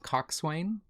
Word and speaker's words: coxswain: I don't think, but coxswain.